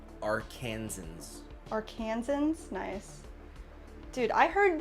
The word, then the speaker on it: Arkansans: For the record, it's pronounced Arkansans.